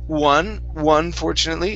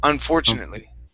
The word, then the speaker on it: unfortunately: Instead of one fortunately, it's unfortunately.